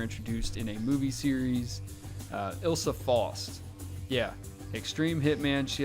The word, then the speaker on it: Ilsa: I'm gonna start Isla Fosk. Is that how you say her name? How do you say it? Ilsa. Ilsa.